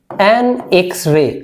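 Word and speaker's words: X-ray: বুঝতে পার এক্সরে।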